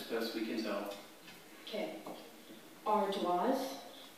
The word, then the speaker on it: ardoise: Ardoise? Ardoise. A? R D O I S E. Ardoise. Correct. I think she was pretty sure of that all the way. And that was a classic French pronunciation.